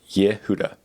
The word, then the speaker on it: Yehuda: my name is um it says pronounced ye with a short i ye yehudah yehuda yehuda i'm 15 years